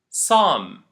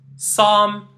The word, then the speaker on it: psalm: I am going to pronounce them for you. Psychology, pseudo, psalm, psoriasis. Once more, psychology, pseudo, psalm, psoriasis.